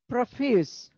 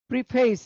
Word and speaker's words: preface: This is preface. Preface, you can sometimes you pronounce this word like preface, but it is preface.